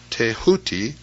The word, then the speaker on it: Thoth: Scribe of the Gods Thoth pronounced tehuti the so-called Emerald Tablet